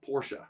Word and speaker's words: Porsche: know but i do know that it's actually pronounced porsche correct but i'm not american and i'm not